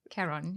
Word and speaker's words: Caron: Caron. Yeah. Caron, let's go. Something like Ron. Like if you call me Ron now.